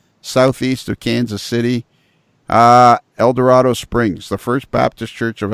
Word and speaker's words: El Dorado Springs: and a half south east of Kansas City eldorado springs the First Baptist Church of eldorado springs I